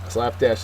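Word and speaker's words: slapdash: word is slap Dash slap Dash is an adjective first syllable is accented it is careless or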